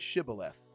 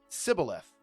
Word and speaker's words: Shibboleth: And if he said, 'No,' then they would say to him, 'Say the word Shibboleth.'" And he would say, "Sibboleth." For he could not pronounce it right.